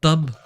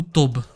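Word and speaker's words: טוב: Mais rappelle-toi que le V peut être aussi prononcé B. Donc, Tab ou Tob.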